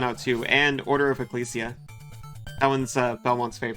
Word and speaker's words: Ecclesia: too and Order of Ecclesia that one's uh Belmont's favorite it's pronounced with a hard hard G I'll try to